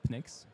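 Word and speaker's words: Pnyx: yet or not quite yeah so it's called Phoenix it's spelled p-n-y-x so the reason that I chose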